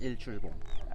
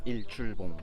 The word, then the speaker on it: Seongsan Ilchulbong: this UNESCO World Heritage site here on Seongsan Ilchulbong. And the name of it is, how do we pronounce it? Song. Song? Sun? Ilchulbong.